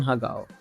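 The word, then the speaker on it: har gow: Starting with prawn hagao. Yeah, that's how it's pronounced.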